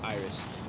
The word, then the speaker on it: Iris: It looks like it's spelled Aries, but it's Iris.